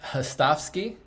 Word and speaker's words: Hostovsky: And we have a special guest with us today, Marc Hostovsky. I pronounced it right?